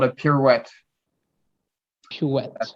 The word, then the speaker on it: pirouette: Pirouette. A How do you pirouette. spell that? Pirouette. My I'll God. write it. Yep. Pirouette.